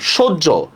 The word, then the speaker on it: সহ্য: ফলা আসছে ঠিক না অ ধ্বনির পরে জ ফলা আসছে তাহলে জ ফলার প্রভাবে এটা কি হয়ে যাবে ও হয়ে যাবে না জ ফলার প্রভাবে